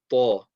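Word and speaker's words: ط: And this one is called ta. Okay, ta. Now, it's a heavy letter. That means we're going to put pressure on the makhraj, raise the back end of the tongue, slowly release, round the mouth.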